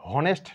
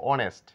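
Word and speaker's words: honest: লেটারটির উচ্চারণ হয় না এটাকে আমরা হনেস্ট না বলে বলবো অনেস্ট কারণ এইচ এর কোন সাউন্ড নেই হনার নয়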